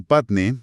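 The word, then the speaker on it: φάτνη: El término patne, que se escribe con PH y está en griego, es la palabra que tradicionalmente se ha vertido al español como pesebre.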